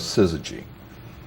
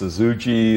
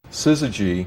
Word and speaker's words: Syzygy: techies and engineers and the fact that nobody could pronounce it or spell it didn't seem to bother us and uh people called us suzuji and suzuji and and we thought